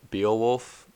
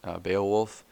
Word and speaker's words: Beowulf: heard of the story Beal wolf I think I think that's how you say it Beowulf yeah that that one's an